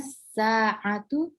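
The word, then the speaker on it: الساعة: Ya, langsung aina sa'atu, alifnya itu langsung dihilangkan aja. Aina as-sa'atu. Hah? Aina sa'atu. Aina as-sa'atu. Ainas langsung ainas sa'atu. Aina as-sa'atu. Ya, bukan sa'atu, a-nya nggak panjang, Mbak. Ainas sa-nya yang panjang.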